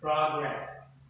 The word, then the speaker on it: progress: So most nouns and adjectives with two syllables, this stress is on the what? First syllable. So the first, the progress, that is considered as a noun. Progress. Prog, first syllable, ending, rest, that is second syllable.